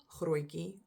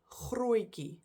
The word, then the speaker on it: Grootjie: They are Opa Grootjie and Oma Grootjie.